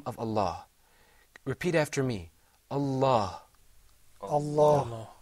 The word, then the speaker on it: Allah: me Allah Allah ok we're going to be talking about the lamb in that word this lamb is a very interesting lamb sometimes it's pronounced with the full mouth sometimes not so the question that